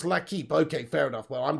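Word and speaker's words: L'Équipe: It's pronounced L'Equipe.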